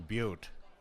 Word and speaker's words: Butte: all a favor okay stop mispronouncing our name the e on the end of the word changes everything it's pronounced Butte and you know it and you know